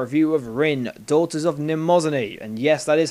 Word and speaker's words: Mnemosyne: Anyway, I am lead reviewer Mnemosyne12544, and this is our review of Rin, Daughters of Mnemosyne. And yes, that is how you pronounce it.